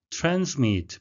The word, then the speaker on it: transmit: Transmit, 발음에 유의하셔야 되겠는데요. S는 Z 발음이 나겠습니다.